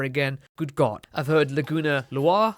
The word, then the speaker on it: Laguna Loire: I've heard Laguna Loire, I've heard Laguna Lawyer. In Japanese it reads Laguna Reware. Laguna Loire. Loire being a French name, so there you go.